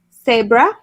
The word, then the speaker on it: cebra: first word is ex it sounds exactly the same in spanish but it's spelled differently so that's it it's got a c instead of a z uh-huh so it's it's exactly that it just uh it's the same cebra so that's the first